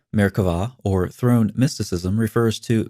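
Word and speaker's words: Merkavah: mysticism called Mera mysticism frequently spelled with a B but pronounced with a V Mera or Throne mysticism refers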